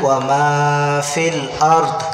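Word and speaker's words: وما في الأرض: এই শব্দটা আমরা অনেকে বলি কি মাহফিল আর দে দে, তখন দ অক্ষরটা ভুল হয়ে যাবে। তাহলে আমরা এখানে বলবো ওয়া মা ফিল আরদ, ওয়া মা ফিল আরদ।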